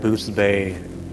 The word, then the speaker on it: Boothbay: Boothsbay. Boothbay. Booth Bay, no S, Oh, my mistake. no S. Boothbay.